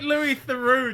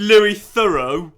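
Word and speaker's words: Louis Theroux: Mafia 2 Mafia 2 you sound like Lou theu trying to th I you mean Lou thorough yeah Lou thorough documentaries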